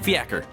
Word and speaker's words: fiacre: Okay, fiacre.